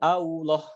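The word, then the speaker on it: الله: harokat fathah atau dhummah cara membacanya Bukan allah' Ya bukan Au Gak ada flownya tidak boleh manyun Allah Allah Allah Allah bukan Allah ya Allah Allah nah jadi tidak manyun sama sekali nama Arka yang luar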